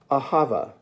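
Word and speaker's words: אהבה: by dave adamson the word for today is ahava ahava he has it spelled a-h-a-v a-h-a-v elsewhere it is spelled a-h-a-v-a a h a v a ahava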